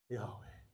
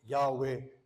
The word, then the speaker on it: Yahweh: put in the Hebrew, under the first H, they've put a line, that's an A, and under the Vav, they put a little dot, which is an E. That's where we get Yahweh to pronounce it.